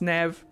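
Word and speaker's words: Neve: but no it's fine her name is pronounced Nev Nev squared there is an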